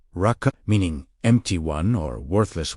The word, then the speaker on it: Raca: The word Raca, pronounced Raca, meaning empty one or worthless one, appears in Matthew chapter 5, verse 22.